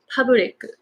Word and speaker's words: public: So I used to pronounce it public, ta ta ta ta. The rhythm was ta ta ta ta, but it's actually public, just two sounds.